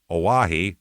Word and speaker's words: Oahe: The tight 10 days at the Oahe, Oahe is how you pronounce that, O-A-H-E, Oahe, the Oahe Dam Emergency Spillway.